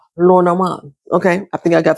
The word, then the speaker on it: Lenormand: of learning how to read Len Norman as like as we call them here in America, Len Norman cards. I learned that these cards are created by a French person. So, it should be pronounced Loran.